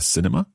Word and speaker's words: cinema: You need one more syllable. Cinema. Cinema.